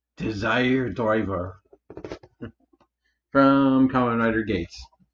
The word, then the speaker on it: Geats: show it's the desired driver from Kamen Rider Gates not not the skates this one this guy